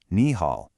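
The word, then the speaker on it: 你好: When two third tones are together, the first one changes into a second, rising tone. So even though it's written as ni hao, it's always pronounced ni hao.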